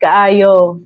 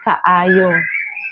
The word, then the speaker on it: kaayo: Um, yeah, lamig kaayo.